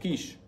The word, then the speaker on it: Kiss: So it's spelled K-I-S-S, like the Hershey chocolate kiss, but it's pronounced like the French breakfast, quiche.